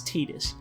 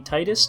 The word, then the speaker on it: Tidus: guy how do you think his name is pronounced i'll just tell you it's tidus did you think it'd be titus just by looking at it be honest i